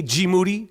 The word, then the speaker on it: G Moody: The Black Ed McMahon, G, aka G Moody, rhymes with duty.